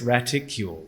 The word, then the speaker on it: graticule: Apparently, it's raticle, but I had to look it up.